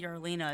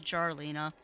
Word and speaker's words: Jarlina: I keep saying Yarlina, it's Jarlina. They actually pronounce the J.